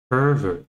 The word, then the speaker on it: pervert: And as in now, we just change the stress to the first syllable. We have pervert.